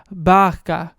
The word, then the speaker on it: barco: type so it's Bara but how they pronounce it in Portuguese it's like bka right uhhuh so I heard it and how she was saying it it sounded like vodka and I was like wait